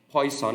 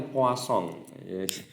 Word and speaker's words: Poisson: Atau poison itu bacanya ternyata poisson.